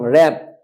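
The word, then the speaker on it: wrap: উচ্চারিত হবে না রং র্যাপ আমরা র্যাপিং করি মোরাই কোন জিনিসে আমরা গিফট করি র্যাপিং পেপার দিয়ে সুতরাং এটা হচ্ছে র্যাপ ডবলিউ আর এ পি রপ wrist R ডবলিউ আর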